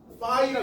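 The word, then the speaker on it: Φ: 아 이거 파이라 그러요. 어 얘 어떤 학인데? 어 선생님 얘는요 얘는 파이라고 읽어요. 이게 발음이 조금 비싼데 아 글서가 좀 그래요. 왜 아 외국어들이 좀 그렇습니다.네 파이고요.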